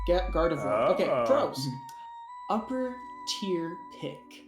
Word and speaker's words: Gardevoir: It's Gardevoir. Gardavore.